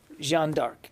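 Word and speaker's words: Jeanne d'Arc: corrected, but the way I was told to pronounce it was Jean Dark.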